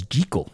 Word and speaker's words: Jekyll: This is the only version where Jekyll's name is pronounced correctly as Gee-Kull.